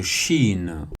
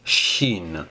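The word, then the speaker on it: شين: face à la lettre Chine au niveau de sa prononciation vous ne trouverez pratiquement aucune difficulté c'est le CH en français donc ça fait chat donc là en arabe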